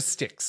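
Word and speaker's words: Styx: Well, the river sticks, which I think is in my mind it's just with sticks. Sticks is spelled s t yx, I think.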